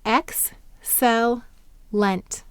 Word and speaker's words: excellent: Why did the C say s here? That's right, it's before an E.